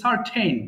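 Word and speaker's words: certain: এরপরে সার্টেন মানে নিশ্চিত এটা অনেকে ভুল করে কার্টেন বলে ফেলে কার্টেন কিন্তু আলাদা পর্দা আর এটা একটু উচ্চারণ হবে সার্টেইন নিশ্চিত সার্টেনিটি নিশ্চয়তা আবার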